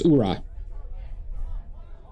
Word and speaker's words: Ura: Yeah, I should pron Yeah, I'm pronouncing it too too American. It's URA.